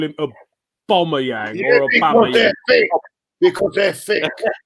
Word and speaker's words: Aubameyang: It is Aubameyang. I'll leave it out. Aubameyang. I don't know any of the Sky Sports presenters call him Aubameyang or Aubameyang.